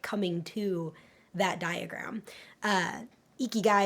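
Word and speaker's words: ikigai: to that diagram uh eeky guy is spelled like u i k i g AI uh anyone listening you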